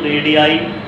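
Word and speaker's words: radii: अगर एक रेडियस है तो आप उसको रेडियस बोलते हैं, अगर ज़्यादा है तो आप उसको रेडियाई वर्ड से प्रोनाउंस करते हैं। रेडियाई, रेडियाई plural of रेडियस ऑफ a circle are equal in length.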